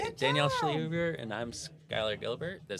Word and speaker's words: Schlehuber: This was Danielle Schlehuber. How do you say it? You said it right. I said it right. Good Danielle job. Schlehuber, and I'm Skylar Gilbert.